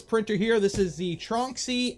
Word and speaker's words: Tronxy: here this is the trunksy x or trunksy tron xy trunksy how we pronounce it crux one uh it's